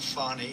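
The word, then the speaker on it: Fani: go you very unfairly she goes by the name of fonnie even though it's f a n she wants to pronounce fonnie she's little little French little French accent and her lover and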